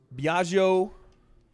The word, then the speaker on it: Biagio: play psychological warfare to win I just win Biagio right I said it right how do we